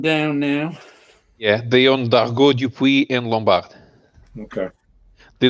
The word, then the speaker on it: Dargaud: Is it Dugard or Dargaud? Oh, Dargaud.